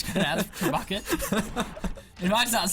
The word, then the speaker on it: trebuchet: Yeah, trebuchets are up and firing now. It's actually pronounced Trebuchet.